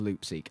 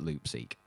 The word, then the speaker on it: Loopseque: e qu e and I guess that it kind of was saying Loop and sequence so I went with Loop seek I'm not sure if